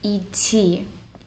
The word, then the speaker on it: идти: We're going to start from the left, this word et. Et. This means to go by foot one way. It's spelled e, de, te, e. And then the second letter, de, it's almost like silent.